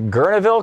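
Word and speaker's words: Guerneville: Gene in Gurneville, California.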